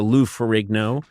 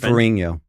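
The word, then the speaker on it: Ferrigno: I I didn't suddenly go from Bill Bixby to Lou Farero. Uh that's not what happened. Lou Ferinho. The GN makes like a sound like No, everyone says that's not how they pronounce it.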